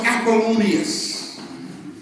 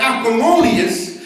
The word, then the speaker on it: Apollonius: existed 2000 plus years ago his name was apollonius it's spelled a p o l l o n